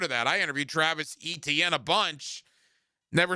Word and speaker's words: Etienne: That he pronounces it Travis Etienne Etienne kind of like Devon Achane from Miami, but he switched it to Etienne because it was easier during his freshman year at Clemson.